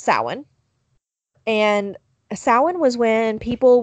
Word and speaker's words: Samhain: going to butcher this, Samhain, which is spelled Samhain. So I always try to say Samhain or Samhain, but it's Samhain.